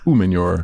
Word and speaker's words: Umenyiora: That is OC Umenyiora. Good. It's actually pretty good, you know. You like said that? Umenyiora. A lot of I people know still your say name. Umenyiora. It's No. not Umenyiora. It's Umenyiora.